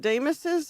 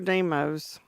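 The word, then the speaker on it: Demo's: Is it Deus' or Deeos? I'm going with Deeos. We We We never found out, so I'm just going with what I know. This is spelled D E M O apostrophe S though. Deeos. People just say it wrong.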